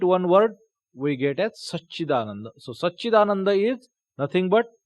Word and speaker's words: Satchidananda: Sat, it comes in Satchidananda, or sometimes we spell it at Satchidananda. Sa, half cha, then cha, ikar, Satchidananda.